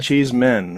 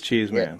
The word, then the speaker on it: Cheeseman: All the time cuz the way it's spelled it's you want to say cheese man. Yeah. Yeah. But it's cheese cheese men right? No cheese man. It is cheese man.